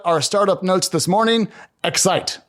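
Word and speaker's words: Xyte: startup notes this morning excite which is spelled xyt it's a startup that helps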